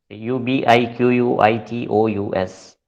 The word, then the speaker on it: ubiquitous: now let us look at the next word u b i q u i t o u s is pronounced as ubiquitous okay it is pronounced as